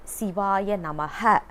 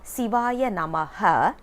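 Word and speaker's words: Shivaya Namah: to understand here is we should not say siva namaha because according to sanskrit ha simply means a full stop so when we say siwaya namaha it becomes an another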